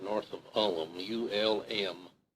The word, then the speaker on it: Ulm: right north of Ulm, U-L-M, Ulm, I believe the way the Germans pronounce it.